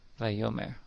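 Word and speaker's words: וַיֹּאמֶר: And of course, it's pronounced vayomer when you put it all together.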